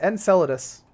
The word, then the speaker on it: Enceladus: moons here we have how do you pronounce this and sell it us and sell it us I think that's how you pronounce it Enceladus Enceladus is essentially just